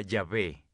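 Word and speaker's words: Yahweh: a ustedes éxodo 314 en hebreo yo soy se pronuncia ya ve ese nombre para dios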